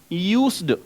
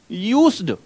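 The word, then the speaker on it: used: इसका प्रोनाउंसिएशन होता है क्या? यूज्ड। क्या होता है प्रोनाउंसिएशन? यूज्ड। से की साउंड आएगी, फिर डे की साउंड आएगी।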